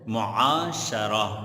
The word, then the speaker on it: معاشرہ: مفاعلہ کا مصدر ہے، معاشرہ شین کے زبر کے ساتھ، معاشرہ میم پر پیش، معاشرہ۔ اسی طرح اگلا لفظ